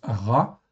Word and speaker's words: רע: Donc rche ain vous le voyez en fait ici ça se prononce ra avec un patard en fait en dessous donc la voyelle qui se trouve en dessous c'est un patard.